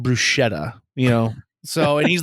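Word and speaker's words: bruschetta: rube he is like he orders uh uh BR brusketta at one point and they they're like it's pronounced brushetta you know so and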